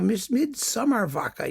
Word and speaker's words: Midsommarvaka: No, Midsommarvaka. Yeah, I think that's how you pronounce it.